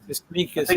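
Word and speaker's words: Tsimikas: Is it Simikas? Simikas, I think. Simikas, yeah. That's how you pronounce it.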